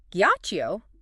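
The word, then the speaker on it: ghiaccio: Guacio. Ice starts with a hard G sound like go. The H preserves the hardness.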